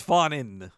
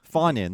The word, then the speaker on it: Groening: there, along with Matt Fawn. Is that how you say his name? I think it's Fawnin. Fawnin, thank you.